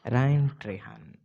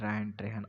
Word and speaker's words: Ryan Trahan: But there was this video from Ryan Trahan. I wanted to pronounce his name right.